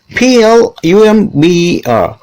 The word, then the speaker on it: plumber: Plumber. Plumber. Plumber. See, most people say plumber because B is there. Actually, plumber is wrong. Like that B there, it should be silent.